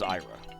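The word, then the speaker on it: Aira: if her name was supposed to be pronounced ayla and it is not it is ira uh they they went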